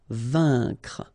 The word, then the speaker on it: vaincre: A-I-N together. Here it's un. Vaincre. CNR, vaincre.